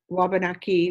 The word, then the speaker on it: Wabanaki: So the Algonquin word is Wabanaki. Waban is white, Aki is land.